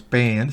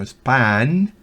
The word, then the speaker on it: span: La palabra span, eso sí se pronuncia una A claramente, no es pan, sino span.